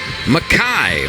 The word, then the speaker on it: McKai: N this is McKai I know it looks like McKay but it's pronounced McKai from Spring Branch Texas